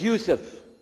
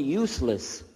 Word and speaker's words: Yusuf: we'll work on it shalom my name is Yusuf did you say Yusuf let me say Yusuf you're very good I wish you teach my wife she keeps mispronouncing it she calls me useless from the left now how many of you